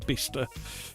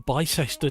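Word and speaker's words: Bicester: Uh there's a there's a couple of lovely calves in the uh center of Bista or BCester depending how you want to pronounce it.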